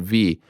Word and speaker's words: V: to propose to my girlfriend v pronounce like the letter v this june 18th on